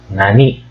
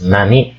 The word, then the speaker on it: なに: Here, there are 2 pronunciations of nani or what. The first is, of course, nani. Nani is used before particles. Particles like wa and wo.